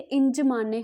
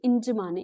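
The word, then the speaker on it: N'Djamena: ठीक है, ये जो हमारी कंट्री है इसको हम कैपिटल है, इसको किस तरह से प्रोनाउंस करेंगे, ठीक है, इंजमाने हम इसको बोलेंगे, इंजमाने, इसकी जो करेक्ट प्रोनाउंसिएशन है।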